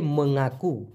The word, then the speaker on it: mengaku: দেখুন মূলত শব্দটা হচ্ছে মঙ্গাকু, MENGAKU। উচ্চারণটা হওয়ার কথা ছিল ম উমগায় আকার মঙ্গা, তারপরে কু।